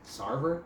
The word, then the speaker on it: Sarver: Sarver.